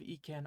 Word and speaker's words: 意: when you consider it the E from ekin on its own has only one possible pronunciation it's onomi or Chinese reading which is of course e this conji conveys the